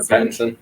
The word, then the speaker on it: Pattinson: Pattinson.